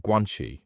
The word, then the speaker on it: guanxi: Did Shanghai become one of those places where you developed strong connections, or guanxi as you call it? Excuse my pronunciation. Uh no problem. You actually say it very well.